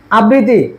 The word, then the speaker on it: আবৃত্তি: আসক্তি আস আস আসক্তি আবৃত্তি এই আবৃত্তিটা দেখ এইযে আবৃত্তি এটা কি কি হবে? সঠিক উচ্চারণ কি? আবৃত্তি। আবৃত্তি। আবৃত্তি মানে যুক্ত বর্ণটা আমি দুইবার দ্বিতীয় উচ্চারণ করে দিব।